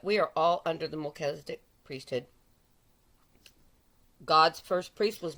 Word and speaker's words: Melchizedek: i very rudely said it's not melchazek it's melchizedek and i wasn't trying to be snarky at anybody a lot of people are pronouncing it mulches deck you can pronounce it